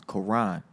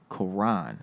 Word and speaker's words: Koran: How you pronounce my name is Koran. Koran.